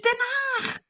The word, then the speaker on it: Den Haag: Because if you had The Hague, like, well, no, it's not The Hague. It's Den Haag.